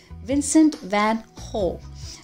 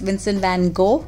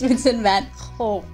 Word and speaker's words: Vincent van Gogh: the Dutch post-impressionist painter Vincent van Gogh. Okay, now that's exactly how the Dutch pronounce it. It's not like we usually think it is Vincent van Gogh. No, it's Vincent van Gogh.